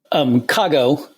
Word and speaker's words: Cago: do you pronounce it Kago or Kago? Kago, because it's, a chunk of Chicago.